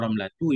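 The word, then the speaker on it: رملة: Qaulu saudatu wa ramlatu yuqra'ani bi ghairi tanwinin. Ucapan nazim saudatu ramlatu itu dibaca dengan tanpa tanwin.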